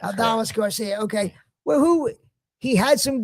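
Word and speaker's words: Adolis García: I don't know how to say his first Garcia. How do you say his first? Aldiz? Is that how you pronounce his first name? Aldoris? I'm not sure how to pronounce his first name. Adalis Garcia. Adalis Garcia.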